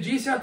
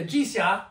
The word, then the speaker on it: jizya: At best, they were subjects of political Islam having to pay the jizya. Am I pronouncing that right? Yeah, jizya.